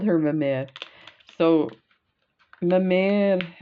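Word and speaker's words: mémère: her a myth so my man is the french for grandmother or like the the slang of grandmother which kind of sounds like my mother mamma but it's spelt m-e-m-e-r-e with the accent so that's the rose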